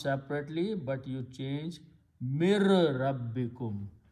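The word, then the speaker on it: مِن رَبِّكُمْ: When you read these together, you do not pronounce separately, but you change mir rabbikum. So noon sound goes away, ra becomes twice, that's tajweed. Mir rabbikum.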